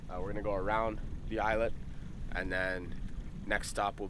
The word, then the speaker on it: Islet: How do you pronounce that? Islet.